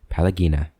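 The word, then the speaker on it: Pallegina: his arms before replying pelagina pallagina i've been saying your name wrong palagina if there is if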